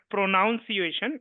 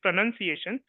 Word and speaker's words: pronunciation: Just like the word pronunciation itself is not pronunciation, it is pronunciation.